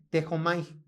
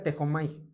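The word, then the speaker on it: δέχομαι: Es la palabra, bueno, vean cómo se escribe, pero se pronuncia así, tejomai. Así se escribe, pero se pronuncia tejomai.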